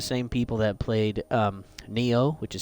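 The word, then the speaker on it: Nioh: it it's the same people that played um Neo which is spelled n-i-o-h we have uh Fallen dynasties on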